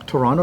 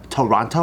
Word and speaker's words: Toronto: Are you from Toronto or From Vancouver?